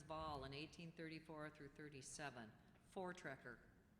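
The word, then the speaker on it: voortrekker: in 1834 through 37 for treer for treer are they any alternate pronunciations no there are not we pleas have the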